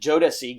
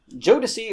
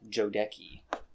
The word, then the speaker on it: Jodeci: uh yeah so orris jodeci or as some of us call him jodecki remember uh i'm not getting it okay then that was it was just me mispronouncing the band jodicy's name uh and then i